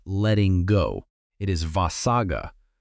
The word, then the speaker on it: vossagga: It is vossagga — pronounced voh-SAH-ga.